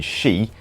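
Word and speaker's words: 四: rule due to their original word for four being she which has the same pronunciation and romanized spelling as she which means death and Divas also adds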